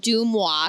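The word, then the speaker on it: Deuxmoi: life gossip girl like so it's spelled d-e-u-x-m-o-i doom-wah so it's like and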